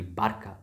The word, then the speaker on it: Barca: As C is pronounced K in Roman Latin. So technically it should be Barca or Barcelona.